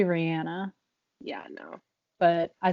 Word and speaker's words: Rihanna: everyone knows about but they still say it wrong rihanna yeah it's supposed to be rihanna yeah i know but i still say rihanna me and me too